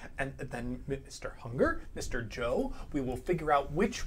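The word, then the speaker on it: Joh: Let's decide how we want to pronounce that. Joe.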